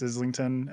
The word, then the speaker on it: Islington: Yeah, I think like if you're if you're like North American, it's Islington and I don't know how anyone else pronounces it.